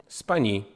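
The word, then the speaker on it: Spagni: thought it was Spagna Spani it's pronounced funny like the GN and lasagna he's Italian you don't say this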